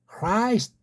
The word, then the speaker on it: Christ: 그래서 Christ, Christ. 스트는 자기네들끼리 쭉 말하니까 알아. Christ, Christ. 이것도 크라고 하지만 완전 K 같은 크 소리로 내지 않습니다.